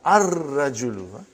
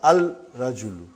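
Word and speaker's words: الرجل: Ar-rajulu. The man. Not al-rajulu. It will be wrong to say al-rajulu. It will be ar-rajulu. We won't pronounce lam. Why? Because it is a sun letter.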